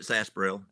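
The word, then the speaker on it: sarsaparilla: Sarsparella. Yes. All right. We We pronounce it Sasparel.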